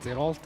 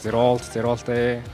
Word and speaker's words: Zerolte: I usually say it's like Zerolte, and then everyone pronounces it differently, so everything works. Just like Zerolte, everything works.